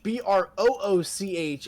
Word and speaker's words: brooch: might be spelled like that but it's not pronounced BR bro bro b r o o c h is a noun and it refers to a